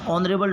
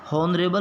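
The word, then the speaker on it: honorable: ही is space ऑनरेबल doctor, ऑनरेबल, एच इसमें फिर से साइलेंट है, हॉनरेबल नहीं हो कि ये ऑनरेबल ओ, तो इस हिसाब से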